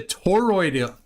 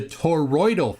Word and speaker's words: toroidal: I'm telling you that the toidal the toroidal field my goodness you've got me mispronouncing it.